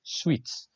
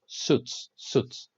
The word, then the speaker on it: suits: By the way, you don't pronounce sweets. No, you pronounce suits.